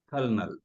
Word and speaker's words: colonel: said that right Colonel colel yeah and again we don't say that l in it we don't there's an L in it but we don't say it we just colel yeah col debris that's